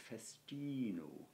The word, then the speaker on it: festino: is when you learn it, to learn its festino. And, festino. You know, again, correct Latin pronunciation, mine is not brilliant, as I'm sure you all now know, but...